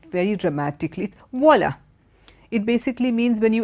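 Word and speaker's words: voilà: voila and it's got v/o i la it's just the same way as you say wow and only the French word for that is voila okay so that's how that word is pronounced so these are all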